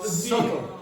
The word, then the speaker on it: subtle: No, subtle. The B is silent.